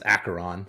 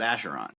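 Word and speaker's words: Acheron: good it's weird because I believe the way you do pronounce that is acaron but Vince likes to call it asheron so it's like Dr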